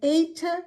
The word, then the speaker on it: eta: Eta comes after zeta. Eta comes after zeta, eta. And it has the A sound as in the word late, a long A sound.